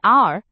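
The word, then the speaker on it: heir: For example, an apple, an R, an M, B, A. Notice that R starts with a silent H, so the sound is like R, which is a vowel sound, so we use N.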